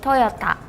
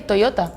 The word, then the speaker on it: Toyota: We say Toyota with the T. Maybe it was me when I pronounced it. I heard more like a D sound.